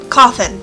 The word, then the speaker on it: Cauthon: calcium i don't know i always pronounce that cathoon but it's not really cat coffin is how the show pronounces it that's right i'm